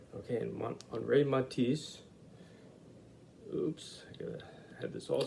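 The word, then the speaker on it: Henri: name is andre matisse that's actually henry but uh the french say uh pronounce it on rey okay and on ray matisse oops had this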